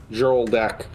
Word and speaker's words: Hjoldak: pronounce Hjoldak? H-J-O-L. Hjoldak. Joldak. Yeah, Joldak.